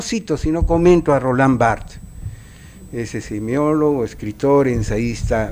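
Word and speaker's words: Barthes: maltratado dice rolán bard Roland Bart perdón esa es la pronunciación correcta No es bartes se escribe bartes pero se pronuncia Roland Bart en la derecha dice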